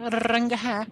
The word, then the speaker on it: Rangahat: You have to roll the R, right? Rangahat.